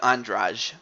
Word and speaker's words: Andrade: does go to Jessica andrage even though it it even though it is spelled Andrade but it's andrage I don't know why but it's that's what it's that's how you pronounce it no unfortunately she